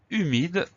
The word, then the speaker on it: humide: faire très attention à ceux h muet qu'on n'entend pas et auquel il faut